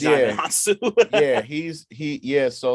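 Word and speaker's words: Djimon Hounsou: I just learned like really recently that that's how you pronounce his name. So yeah, it's Jamin Yeah, Hansu.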